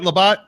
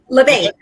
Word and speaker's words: Labette: Am I saying it right, Labat? LeBay.